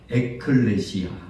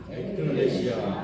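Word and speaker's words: ἐκκλησία: 받은 공동체라는 것은이 교회라는 것은 이제 헬라어로 어떻게 발음을 하느냐 한번 따라합시다 에클레시아 에클레시아 다시 한번 에클레시아 에클레시아이 에클레시아라는 것은 교회를 상징하는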